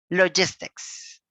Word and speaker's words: logistics: Logistics. 3, 2, 1. All together. Logistics. Logistic. Awesome. Remember, logistics, all right? S at the end.